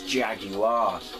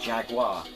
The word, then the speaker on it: Jaguar: It's Jaguar, not Jaguar. Kind of how it's spelled.